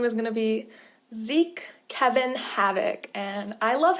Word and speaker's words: Zeke: In fact, I decided the pronunciation is Zeke so that his name literally sounds like wreak havoc.